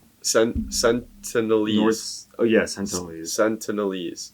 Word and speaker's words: Sentinelese: sent senators oh yes sentinelese yeah that's how you pronounce it yeah um but the